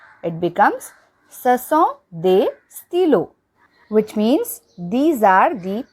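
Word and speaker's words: stylos: still and for stilo we added extra s to make it plural but it is not pronounced it becomes stilo which means these are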